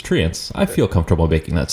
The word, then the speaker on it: Treants: Regional dialects aside, we are Canadian, and we now pronounce it as Treants.